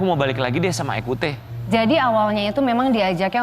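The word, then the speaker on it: Ecoutez: Ekute. Iya. Bacanya ekute apa ekutes? Ekute.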